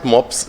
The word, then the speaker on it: MOPS: And it's easy to pronounce by Germans because this dog breed, the pug dog, the German word is MOPS, but without a B.